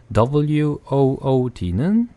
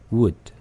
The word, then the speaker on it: wood: 그 다음에 나무라고 할 때 나무나 그 다음에 여기다 S를 붙이면 뭐 작은 숲속이라는 단어가 되는데 W-O-O-D는 약한 으 발음이에요. 그래서 wood.